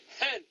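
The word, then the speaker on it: ἕν: You have to do the breathing sound. Hain, Pen, Hen. You got to practice your Greek pronunciation, especially when this first century Koine Greek.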